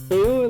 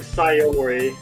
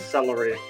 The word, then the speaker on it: Sayori: Instead of saying Sayori, I gave up repeatedly, even after being told how to pronounce it. And so for the next 6 hours, I just pronounced her name as celery.